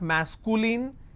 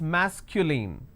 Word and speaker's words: masculine: It's not masculine, it's masculine.